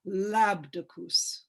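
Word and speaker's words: Labdacus: Now this one is spelled Labdikids, but it's pronounced Labdicus.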